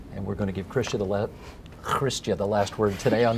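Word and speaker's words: Chrystia: Chrestya. Harder in the back of the throat.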